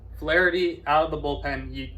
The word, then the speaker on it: Flaherty: Flaherty. You said his name wrong. Flaherty out of the bullpen, you don't hit him.